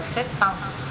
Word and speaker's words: sept ans: Sept thì ta đọc là sept ans, nối bằng âm tờ.